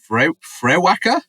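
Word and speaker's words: Frewaka: Uh, I don't know how to say this, uh, but fwacka, it's Irish. It's like a a Gaelic word, I guess.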